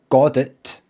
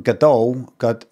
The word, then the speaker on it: Godot: By the way, this is how you pronounce it. It's no Godit. It's also no Goddo. It's Godot. Godot.